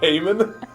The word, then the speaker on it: hamon: pull off a fake Heyman situation. What do you mean I say it like an American? A Heyman? My Kansas is showing.